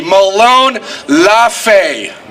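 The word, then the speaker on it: Molon labe: to them Malone's FA everybody say it with me this I said properly Malone laughs a Malone laughs a whenever you see that on the memorial in Thermopylae Greece you know if you look it up that's the proper way to say it so let people ask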